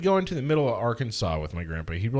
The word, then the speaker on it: Arkansas: and arkansas hate that it should be arkansas arkansas yeah that's how it's spelled it's kansas with ar at the front of it but you